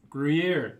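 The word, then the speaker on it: Gruyère: uh christian sects i like it uh cheese gruyere there it is that's the correct pronunciation my favorite if i'm just eating cheese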